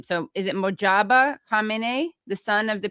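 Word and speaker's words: Mojtaba: First of all, I can't pronounce his first name. So is it Mojaba Kame, the son of the previous Ayatollah?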